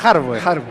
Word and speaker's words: Harboe: Pero a Felipe Arboe le pasa lo mismo, que en realidad se pronuncia Harboe.